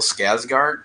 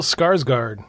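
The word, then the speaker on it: Skarsgård: Bill Scazgard. I can't I don't even know how to pronounce his name. Bill Scarsgard.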